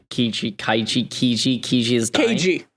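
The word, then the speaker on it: Keiji: the enemy and K kiji kaii kiji kiji is di k k it's like cuz they mispronounce the Americans mispronounce it as cage hey cage the other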